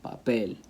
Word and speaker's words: papel: Same thing with a word that ends in L, like papel. Papel ends with an L. Stress has to go on that last syllable, papel.